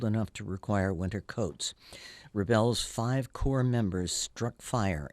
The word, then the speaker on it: Rebel: the Baroque Ensemble Rebel the accent is on the second syllable is named after French